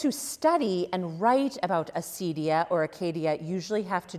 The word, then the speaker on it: acedia: the question of acedia, or as actually my table mate tonight at dinner said, Acadia. You could pronounce it that way too. You sometimes see it A-K-E-D-I-A, or it could be acedia as well.